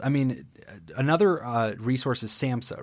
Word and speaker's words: SAMHSA: Yeah, we pronounce it SAMHSA.